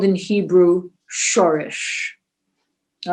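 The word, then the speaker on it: שורש: The roots are called in Hebrew shorish. All right? Shorish, if you want to spell it in Hebrew, is shin vav resh shin.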